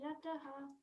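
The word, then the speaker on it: रताः: Just make sure to pronounce the last word Rata, because there's an A. If you see, there is a horizontal line on top of the A, so it's Rata.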